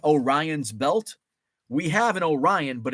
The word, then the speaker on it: Orion: you're familiar with Orion's Belt we have an Orion but it's pronounced Orion uh if you're familiar with France